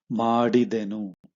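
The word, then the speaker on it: ಮಾಡಿದೆ: Okay, then first nanu madidenu, right? Written form, spoken form nanu madide. So the nu is just removed, you just don't mention put the nu.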